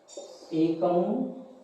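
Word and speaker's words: एकः: विसर्ग लगे होते हैं, विसर्ग का उच्चारण हमेशा हा की ध्वनि की तरह होता है। जैसे एक है, एका, एकम, इस तरीके से हम इसका उच्चारण करेंगे।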